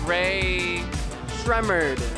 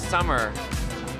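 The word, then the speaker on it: Rae Sremmurd: It's Ray Shremmerd. Oh, we thought it was Summer.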